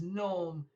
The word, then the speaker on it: gnome: known do you see because gnome rhymes with home it is what i